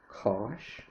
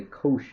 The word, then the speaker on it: cosh: So this is sometimes pronounced cosh x, or sometimes we say cosh x.